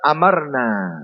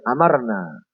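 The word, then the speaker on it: أمرنا: Wal Iraq, dan ulama-ulama Irak membaca amarna, bacanya amarna. Alifnya tidak dipanjangkan dan mimnya juga tidak ditasydid, ditakhfif, amarna.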